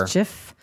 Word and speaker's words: MSCHF: And it was a company called Mischief, and it's spelled MSCHF. Like a rapper. Mischief, kind of like that.